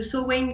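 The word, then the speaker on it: Samhain: Halloween à tout le monde belle fête de sain ou de Sin comme le prononcent les les Celtes je vous souhaite plein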